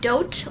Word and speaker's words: Dote: It's pronounced Doat, like boat, but with a D.